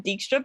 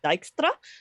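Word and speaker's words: Dijkstra: nova has pointed out his name is dykstra um because it's dutch name but everybody everybody says it wrong they say it wrong with the games they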